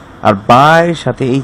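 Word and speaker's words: بَ: যেহেতু আ এবং বায়ের সাথে নিচের দিকে একটা নোক্তা আছে, সেটা হচ্ছে বায়ের সাথে যেহেতু ফাতহা যুক্ত হয়েছে, আমরা এটা উচ্চারণ করব ব্যা, দুই ঠোঁট থেকে ব্যা।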